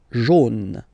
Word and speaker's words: jaune: Then next one, AU will give you the sound O, okay? So basically like O, just a letter. Jaune, jaune, okay? Same thing, final E, not pronounced.